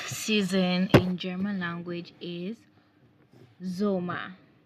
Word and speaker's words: Sommer: So summer, the summer season in German language is called Sommer. Remember, the S sound is always pronounced as Z, just like English in English.